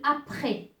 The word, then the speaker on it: après: Et ce S, il ne se prononce pas. Par exemple, je vais vous donner des exemples. Par exemple, après.